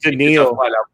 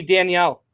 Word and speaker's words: Danielle: And Cameron is he's just pronounced Daniil. No, it's not. Josh, as long as he plays in Minnesota, his first name is always going to be Danielle.